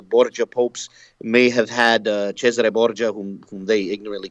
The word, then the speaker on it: Cesare Borgia: was an Italian family, we're over dramatizing the Italian pronunciation of his name, which we I would say that's the way it's actually pronounced. That's the way my father pronounced it. Cesare Borgia.